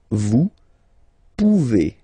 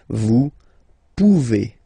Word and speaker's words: vous pouvez: Then vous pouvez. Okay? Classic ending as well for the vous form. A Z like that. Okay? Remember you pronounce it E. Okay? Vous pouvez. Vous pouvez.